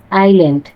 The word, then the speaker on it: island: উচ্চারণ: আইল্যান্ড। আইল্যান্ড শব্দটি উচ্চারণের সময় এসটি নীরব থাকে।